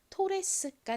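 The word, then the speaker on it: Torres: 차인데요 어떻게 읽으면 될까요 가장 앞에는 티 소리 나고는 보통 한국식으로 오라고 읽죠 아은 하나 오나 두 개 오나 릴 소리 났고요이는 대표적인 소리에 소리가납니다 그리고는 시옷 소리스 소리가 나서 연결하면 토레스가 되는데요이 토레스는 영어 단어가 아니라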